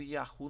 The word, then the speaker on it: יהו: Já no final, quando aparece no final, o som é pleno, forte e carregado de ênfase, surgindo como ia ou yahu.